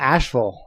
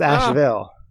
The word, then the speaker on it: Asheville: But I noticed it's not Asheville; it's Asheville.